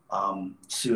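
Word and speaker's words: Soo: Sue is spelled S-O-O.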